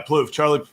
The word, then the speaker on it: Plouffe: Yeah, Plouffe.